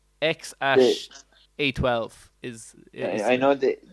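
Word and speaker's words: X Æ: Yeah, the other symbols that his girlfriend picked out, I'm not too sure, but it's pronounced X-Ash. So that weird AE combination is pronounced Ash and then 12.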